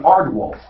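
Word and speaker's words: aardwolf: my neighbor just got in Airwolf no in ardwolf my neighbor just got an ardwolf am I pronouncing that right I sure am half arar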